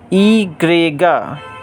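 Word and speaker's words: i griega: a case okay friends y e grega egrega we will write y Gregor but we will pronounce egrega egrega okay and Z is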